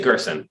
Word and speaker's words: Gerson: writing to jean gerst i'm going to say gerson american pronunciation writing to gerson and